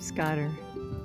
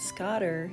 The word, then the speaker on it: scoter: There's an alpaca and a surf scoter right out beyond the alpaca. Neither one are supposed to be here. I believe the pronunciation should be Scoter, not Scotter.